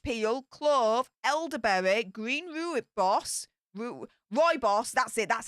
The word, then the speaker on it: rooibos: Apple pieces, cinnamon, rose hips, orange peel, clove, elderberry, green rooibos, rooibos, that's it, that's how you pronounce it, natural cinnamon flavour.